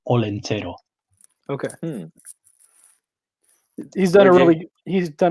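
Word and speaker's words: Olentzero: That's pronounced Olentero.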